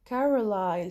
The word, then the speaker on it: Carlisle: شايفينها هون الساوند للسي Carlisle. شايفين Carlisle الأس هون silent تكتب ولا تلفظ.